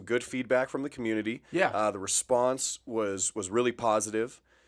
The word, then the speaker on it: Ye: He said, just to follow up on last week's episode, one of Kanye's album is pronounced Ye and not Ye. And I was pronouncing it Ye like crazy.